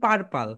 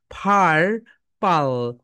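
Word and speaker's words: purple: এই কালারকে আমরা বলি পার্পল, কিন্তু রাইট প্রোনাউন্সিয়েশন বলো ফার। Upper lip lower lip touch together, ফার পাল, ফারপাল, ফারপাল, ফারপাল my dear soldiers.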